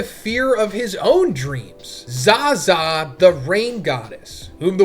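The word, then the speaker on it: ザザ: So the Rain God Zaza, onomatopoeia for rain sound, pronounced Zaza in Japanese, is a long-haired woman with 4 arms.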